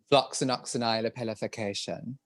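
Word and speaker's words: Floccinaucinihilipilification: Well, she never said it on the show, but I've used it a few times now, which is Floxenoxynilepelification.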